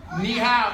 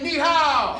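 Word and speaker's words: 你好: Ni hao. Everyone say ni hao.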